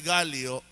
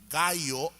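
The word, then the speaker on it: Gallo: mo namang Misa de galo itong dinadaluhan ninyo dahil sa madaling araw ang salitang gayo o ang pronunciation nating mga Pilipino galo Ibig sabihin non ay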